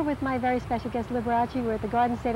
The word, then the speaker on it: Liberace: learn the right way i used to say liberates the way it sounds you know but in italian any any uh syllable that has a bowel in it is pronounced so it wasn't liberace